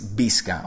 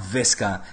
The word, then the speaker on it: Visca: Which, by the way, can somebody please tell him is Visca, okay? The V is pronounced as a B in Spanish and Catalan. It's not Visca, it's Visca.